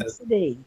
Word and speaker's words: Abcde: That's how it's spelled. Absidy? Close. Absidy. Absat. Oh, God. Absidy. The Betsy. That's Absidy.